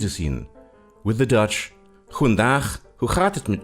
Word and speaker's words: goedendag: With the Dutch, goedendag, hoe gaat het met u? You see, the G in Dutch is pronounced ch, and Dutch has lots of chs.